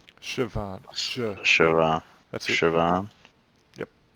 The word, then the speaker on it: Siobhan: Say it like a V. There's no V's in it. It's It's silly. Celtic. Don't pay attention to the spelling.